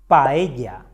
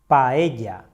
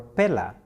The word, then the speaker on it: paella: Paella. Paella. Never say paella or pela. When we see two L's, we pronounce it as the Y sound.